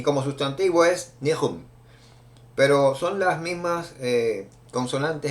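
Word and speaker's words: נחום: Vamos a comenzar definiendo que viene de la palabra que como verbo se pronuncia Naham, como verbo arrepentirse, Naham, y como sustantivo es Nehum.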